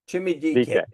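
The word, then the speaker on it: Chimere Dike: His name is Shamir, but they call him Chimmy. And his last name is DK. Chimmy DK.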